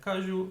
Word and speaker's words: caju: Caju, mais forte, ju.